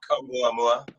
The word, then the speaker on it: Oumuamua: Fabian, could I have permission to pop up a couple of those graphics from your I can't pronounce it, the Hawaiian rock? Oumuamua.